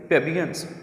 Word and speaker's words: plebeians: तो PLEBEIANS आता है, लेकिन इसमें हम लोग जो है प्लेबियंस में एल को जो है वो हम साइलेंट कर देंगे। पैट्रिशियन, पैट्रिशियन ये तो लॉर्ड नवाब जो होते हैं अरिस्टोक्रेट उनको बोलते हैं प्लेबियन। प्लेबियंस ऑर्डिनरी आम किस्म के जो लोग होते हैं, गरीब लोग, प्लेबियंस। अब प्लेबियंस को देखें तो बेटे इसमें एल भी है, लेकिन हमने यहाँ पे जो एल है इसको हमने नहीं बोलना, हम इसको साइलेंट कर देंगे।